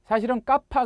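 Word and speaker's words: κάππα: 소문자 는 이렇게 쓰지만 , "Kappa" 가 기술 적 으로 는 맞더라도 우리말 에서 'g'( 강한 'k' 발음 ) 를 두 번 발음 하는 것 으로 생각 하면 됩니다 .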